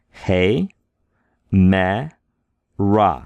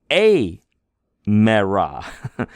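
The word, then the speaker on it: ἡμέρα: We have a rough breathing mark here. If it were smooth, it would be a mera. A mera, but it's not smooth. It's rough. Hey mera. And we see this syllable is accented. It means put a little more bam on it. Say, hey mera. Hey mera. We say it a little bit louder, a little bit longer.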